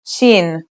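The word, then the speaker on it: شين: letter we learn is chin this one is pronounced just like the English in the word shovel this one is very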